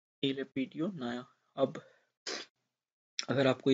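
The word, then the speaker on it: Naja: फिर इलापीडिये नाजा इस, या नाजा नहीं बोलेंगे, नया बोलेंगे जो भी है, साउंड जे साइलेंट हो जाएगा, इज द साइंटिफिक नेम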